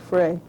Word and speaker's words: Fry: He says his name is pronounced Frey, but I can't see that.